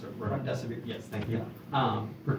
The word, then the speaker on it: remdesivir: I can't pronounce it. Remdesivir.